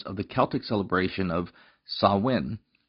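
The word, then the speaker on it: Samhain: the Celtic celebration of sawin which is spelled looking like samhan who are the Kelts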